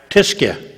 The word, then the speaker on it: Tyskie: Tiskia.